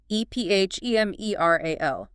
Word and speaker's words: ephemeral: Ephemeral. E P H E M E R A L. Pronounced uh ephemeral.